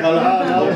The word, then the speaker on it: Kolau: want to learn about Kolau. Yeah. Did I pronounce it correctly? That's right, yeah. Kolau, okay, good. Congratulations, not easy. Yeah? Thank you, thank you. So it's a Hawaiian word.